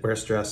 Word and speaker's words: Weierstrass: probably can't pronounce it where stress substitution I think in German the w sounds like a V but I won't even try with that but anyway the interesting